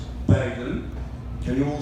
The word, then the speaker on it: Baden: okay the correct argument the correct way of pronouncing my survey is beggin can you all say